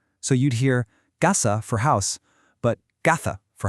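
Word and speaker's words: caza: In Latin America, the word casa, which is house, and gasa, which is hunting, are pronounced exactly the same, gasa. But in a lot of Spain, that Z in gasa gets a th sound, kind of like in the English word think.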